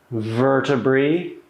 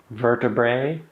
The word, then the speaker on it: vertebrae: One vertebra, two vertebrae, vertebrae. Vertebrae. Yeah. Well, the original Latin I think is vertebrae, but uh that diff thong I vertebrae.